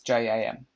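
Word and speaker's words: Jem: And I have to admit, until I heard her read it, I didn't know how to pronounce Jim's name, because it's J-A-M, which is Jam.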